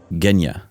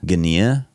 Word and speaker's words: Ghenea: By the way, I finally figured out how to say his name. Here's a clip of his son, saying it. My name is Ghenea. Ghenea. There you go. I used to think it was Ghenea, like this guy.